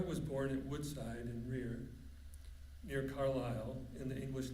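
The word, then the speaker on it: Wreay: She was a land owner in rear uh which does not like it's sad. You see the last word at the end of the caption that is pronounced rear.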